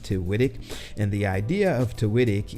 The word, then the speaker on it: Tiwitik: As you can see down here, the name of the channel is Tiwitik. It's pronounced Tiwitik.